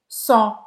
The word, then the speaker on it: sens: Te sens. Som, e você não vai pronunciar o S no final.